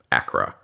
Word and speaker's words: ACRA: reinforcement program otherwise known as Acra it's it's pronouncing its acronym Acra uh and at that time oddly once again